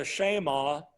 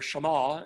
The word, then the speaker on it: Shema: them and so now the Shaima or Shema as a good Jew would say is the Great Commandment